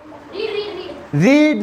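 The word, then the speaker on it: read: रीड रेड रेड बोलते हैं इसको, रीड रेड रेड।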